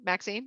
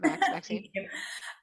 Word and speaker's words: Maxine: right back to you max is seen maxine not max um sorry next group